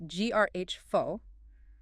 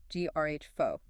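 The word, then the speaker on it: γράφω: Pronounce G-R-H fo. That's a phi is an F sound. G-R-H fo. G-O-H fo.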